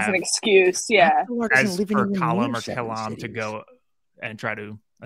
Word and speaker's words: Kalam: Kalam, whatever you pronounce it. It's Kalam.